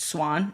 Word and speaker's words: Xuan: And so your first name it's um is it pronounced swan? Is that the way it's pronounced? It's kind of like the Americanized pronunciation. So it's actually pronounced swan and it means spring in Vietnamese.